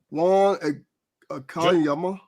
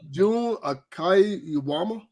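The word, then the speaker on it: Jun Akiyama: Juan Akiyama. June. Oh, what do you say, Juan, sir? I don't know. I thought maybe it was just pronounced different. No, June Akiyama.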